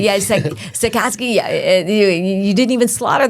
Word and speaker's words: Sachkowsky: Sachkowsky. Yeah, Sachkowsky.